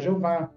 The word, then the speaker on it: Jeová: na língua delas então em língua portuguesa nós vamos pronunciar Jeová inglês jehova e italiano